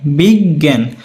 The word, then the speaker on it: বিজ্ঞান: বলি কি বিজ্ঞান বিজ্ঞান নরম নরম ভাবে উচ্চারণ করো তো বিজ্ঞান বিগ জ্ঞান তো লিখান তো লিখে ফেলো